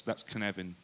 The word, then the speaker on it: Cynefin: Yes, you might think it's pronounced but it's not. It's How naive. In Welsh, that's Cynefin.